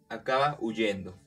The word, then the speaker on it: huyendo: Por ejemplo, digo, acaba huyendo. Aquí identificamos que la H no tiene sonido.